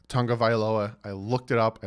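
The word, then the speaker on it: Tagovailoa: tongue of I Aloha and yes it is pronounced tongue of Aloha I looked it up I literally watched a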